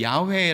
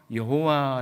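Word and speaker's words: 야훼: 단어를 대신 사용했던 것처럼 이 야외 라고 하는 이 발음이 원래 정확한 발음 이지만 우리가 하나님의 이름을 망령되게 잃지 않기 위한 망령되게 부르지 않기 위해서 여호와 라고 하는 이 발음을 대신 사용한다 라고 우리가 그렇게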